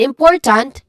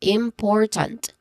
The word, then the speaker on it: important: Now, in important, the stressed syllable is im, which has a short e vowel sound, and followed by a nasal sound, m sound. Then next to that is por, short o sound, and then tant, which has a short a vowel sound. Okay? It starts with a letter T sound, it ends with a letter T sound.